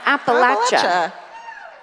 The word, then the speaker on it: Appalachia: Oh, that's how you an Appalachia.